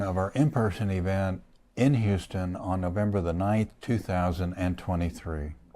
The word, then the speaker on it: Houston: It's good to be back in Houston, as we pronounce it in New York City. I never heard that in New York City. Is that? Yeah, Houston Street.